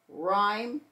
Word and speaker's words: rhyme: we come down here RH H is silent and we're going to hear the r in Rhino rhyme and r Rhythm SC